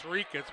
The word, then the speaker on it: Rikus: I think that guy carries that note with him to give to every broadcaster to tell him it's Rikus when it's R-I-K. Rikus, like it's spelled R-E-E-K-U-S, Yeah. Rikus.